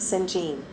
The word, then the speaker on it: St. John: The three women are waiting for someone named St. John, pronounced St-Jean.